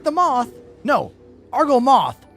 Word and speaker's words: Argo Moth: No, Argo Moth, not Mole.